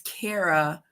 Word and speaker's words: Kara: It was because Kara, which rhymes with Sarah, is there.